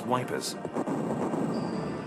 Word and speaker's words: Ypres: itself centered on the ancient Belgian clo town of e unpronouncable to most of the British tomies it became University known as wipers it became a name